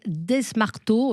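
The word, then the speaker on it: Desmarteau: allez-y elle s'appelle Claudine desmarto alors je pense qu'on prononce pas le S D s m a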